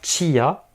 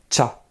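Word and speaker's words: ちゃ: Chi plus ya. Ça ne va pas faire chia, mais ça va faire cha.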